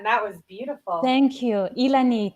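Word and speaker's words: Llanit: hi good evening guys hi how do you pronounce your name Elan okay oh say it again that was beautiful thank you Elan it's me a little tree it's yes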